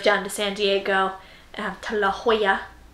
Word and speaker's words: La Jolla: car and drove down to San Diego to La Jolla not La Jolla yes it's quite how it's spelled and we went and saw them we